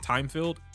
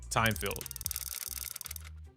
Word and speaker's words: Thymefield: right into Io's first impressions of Alice uh Timefield. Yeah, that's how you pronounce her name. Timefield.